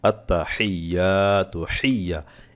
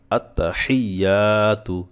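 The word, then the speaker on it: التحيات: আছি তাদেরকে বলতেছি যে বেশিরভাগ ক্ষেত্রে হাটা আমাদের উচ্চারণ হয় না আত্তাহিয়া হা এখানে হবে কি হা আত্তাহিয়াতু লিল্লাহি আত্তাহিয়াতু চেষ্টা করেন দেখেন পারেন কিনা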